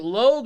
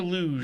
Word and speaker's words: Logue: Is it Logue or Luge? Logue. It is Logue.